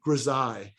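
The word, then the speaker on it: grisaille: it's a cool word it's called grazai and it's spelled like this reside it rhymes with the Palace of Versailles and in French it simply means gray or gray tone a grizzai in art it means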